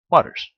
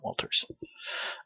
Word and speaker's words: Waters: Waters, not Walters.